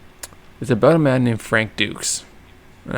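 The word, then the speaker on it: Dux: It's about a man named Frank Dukes. And I want to say Dukes is spelled D-U-X.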